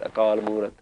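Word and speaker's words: ਅਕਾਲ ਮੂਰਤਿ: It means that you have to pronounce it with the next word. Akaal Moorat. That's how we know to pronounce it Akaal Moorat. Because Akaal should have an ankar underneath it. But if it did, you'd have to stop there.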